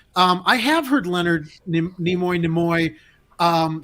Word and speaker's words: Nimoy: i have heard leonard nimoy namoy um say his name maybe in some older videos but i have heard nemoy and i think i have heard it from leonard himself but getting back to